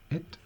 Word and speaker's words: it: It es pronuncia així amb una E ben tancada, no és et, sinó és it.